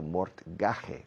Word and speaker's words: mortgage: A mortgage, escrito mortgage, pero se pronuncia mortgage, a mortgage is an hipoteca.